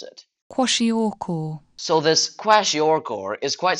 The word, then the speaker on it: Kwashiorkor: The disease is called Kwashiorkor, and yes, I admit it, I had to search up how to pronounce it. Kwashiorkor.